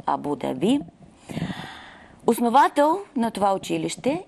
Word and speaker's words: Абу Даби: Правилното произношение е Абу-Даби. Абу-Даби. Но в България сме приели Абу-Даби.